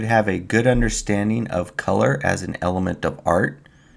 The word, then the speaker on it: Kuler: Used to be called Adobe Color, Kuler, and it was supposed to be pronounced color, and they just, in a